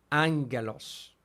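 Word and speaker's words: ἄγγελος: vamos a ver ahorita por ejemplo en angelos porque hay dos gamas gamas gama y van a ver que Eso suena como como ong angelos pero ya lo estudia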